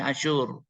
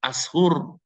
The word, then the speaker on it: Asyur: anda juga salah tulis kita itu kan punya transliterasi asyur itu pakai y kalau bahasa Inggris asyur Pakai bahasa Pakai H tapi tetap bacaannya asyur akhirnya tadi ibu ibu Rin membacanya ashur ya memang kalau bahasa Inggris asur pakai SH tapi kalau bahasa Indonesia pakai y asyur Ibnu asyur dia